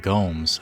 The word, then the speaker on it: Gomes: And I say it like Gomes. I think it's Gomes, right? If there's a Z, it's Gomez because it's Mexican. If there's an S, it's Gomes because it's Brasil.